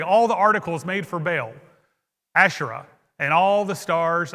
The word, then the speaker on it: Baal: My pastor growing up, If in Hebrew, the word Baal had a little asterisk between the A and the L, and so in Hebrew, it's pronounced Baal, and we all kind